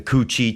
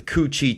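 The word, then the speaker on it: Cu Chi: they would really they had these um the Coochi tunnels. And if you're not familiar, you can look that up. And that's spelled C U C H I think separate words, but the Coochie tunnels where the Vietnamese would hide in the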